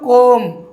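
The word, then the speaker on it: comb: ঠিক তেমনই দেখুন সি ও এম বি উচ্চারণ কী করবো, কোম। কোম মানে চিরুনি, যা দিয়ে চুল আমরা আঁচড়াই।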